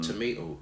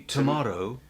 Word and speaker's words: tomato: Tomato. And it's not only tomato that British say, but the second T is not a D, so it's not tomato, but tomato.